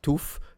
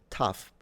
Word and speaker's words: tough: you have no idea, how is it pronounced? Toof, toff, tog. I mean, some people do pronounce it tough, depending on the accent. But imagine, right, that your target accent says it as tough, but you say it